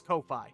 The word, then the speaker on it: Ko-fi: the description to my Ko-fi page. Ko-fi, Kofi, Kof- I don't know how to say it. k o dash f i. It looks like coffee. It's spelled like Wi-Fi. It's coffee.